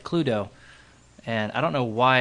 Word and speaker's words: Cluedo: I don't know if I'm pronouncing right. It's like Cludo.